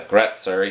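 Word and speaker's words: Grätzer: style called grojiskya or the german pronunciation is a gretzer you may be seen that one more commonly g r g-r-a-t-z-e-r anyway long story short that beer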